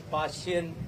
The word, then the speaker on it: Fa Hien: Sumathi Dharmawardhana mentioned about the visit of Venerable Fa Hien, which you pronounce as Fa Hien in Chinese language.